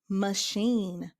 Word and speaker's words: machine: CH as in sh, as in machine.